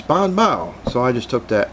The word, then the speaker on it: BanBao: marketing strategy advertising uh the way you pronounce the name is Bon ba as in oh wow it's Bon ba so I just took